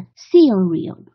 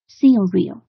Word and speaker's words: cereal: 下麦片，它的重音是在前面一个是 seal，应该是 cereal，不是 cereal，yes cereal，对 cereal，这个 seal 要读重一些，因为它重音在第一个音节这里，所以 cereal、 okay.。